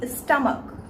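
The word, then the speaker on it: stomach: और एक exception C एच का भी है, जब भी सी एच लास्ट में आए लेकिन उसका जो साउंड है वो का प्रोनाउंस करे, जैसे कि स्टमक, लास्ट में सी एच आता है लेकिन उसका जो साउंड आता है वो का आता है, तो इस तरीके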